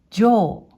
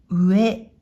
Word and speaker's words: 上: はい、まずこの漢字、音読みで上、上、訓読みで上、上と読みます。